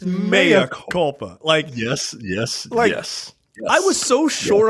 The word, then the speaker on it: mea culpa: They just changed the pronunciation of this word. It's not Mea Culpa. It's Mea Culpa.